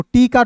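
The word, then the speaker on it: take: फिर देखिए यहां पे टी ए के इ तो टी का ट और के का क अंतिम में इ है तो इसका उच्चारण ए के रूप में टेक। अब देखिए इसके पीछे लॉजिक क्या है? इ नहीं रहता तो ऐ के रूप में करते। अंतिम में इ आ गया तो बस ए के रूप में करेंगे।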